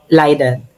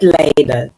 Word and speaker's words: Leiden: Liden ah Lida. Actually iba-iba r 'yung pronunciation ng Leiden.